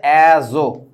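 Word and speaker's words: azote: এটার নাম উনি দিছিলেন এজো এইটিটা কিন্তু সাইলেন্ট বাংলায় বানানটা হবে হচ্ছে এজো অর্থাৎ বাংলায় জানি কি এটার অর্থ মরা ডেড কারো সাথে মিশতে চায় না।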